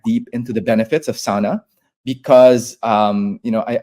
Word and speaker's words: sauna: like the the the sauna capital of the world and it's not sauna right it's SAA it's pronounce a SAA it's the the only